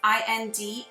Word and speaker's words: Indicolite: It's called Indoclite, and I'm going to spell it for you because I've never heard of it. It's Indicolite, and this is related to the crown chakra.